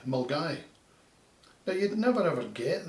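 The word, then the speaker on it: Milngavie: probably come up with millen gabby or some variant thereof it's actually said as mull guy mulgai now you'd never ever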